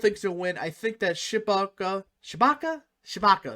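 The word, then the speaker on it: Tshibaka: I think that Shibaka Shabaka, that's how you say her name, will win easily.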